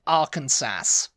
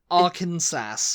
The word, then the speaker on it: Arkansas: I used to pronounce it Arkansas. Oh, I thought you were going to say, okay, it's... Arkansas.